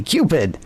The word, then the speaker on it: Qpid: So, you're spelling Cupid with a Q. That one. Not me, man. Because I'm allergic to misspelling, but it is spelled for this episode. Uh, yes. Q P I D. Cupid.